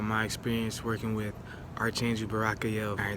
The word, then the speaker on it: Barachiel: Today we're talking about my experience working with Archangel Barachiel. Alright, there's many different pronunciations of Barachiel, right? One of the pronunciations he gave me is Barchiel, you know what I'm saying?